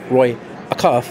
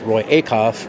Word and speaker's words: Roy Acuff: the music that we play so they're they're pronouncing the names right not Roy Acuff it's Roy a cough not lucky Brazil Frizzle it's prezelle you know